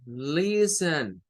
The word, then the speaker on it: listen: Bien, entonces vean esta, miren, listen, listen. ¿Qué significa? Significa que la sílaba tónica está en la primera. La última no tiene.